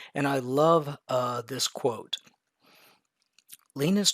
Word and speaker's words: Linus: So I jumped over to how to pronounce, and his first name is evidently pronounced Linus.